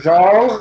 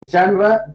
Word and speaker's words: genre: So the novel in England became a well-established literary genre or genre, if you want to use the British pronunciation, genre, G-E-N-R-E, or genre.